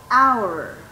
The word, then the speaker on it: hour: So, an hour, because the H is silent. Y usted me va a decir, teacher, ¿y ahí qué pasó de nuevo? Si se escribe con H, pero en esta palabra, la H es silenciosa.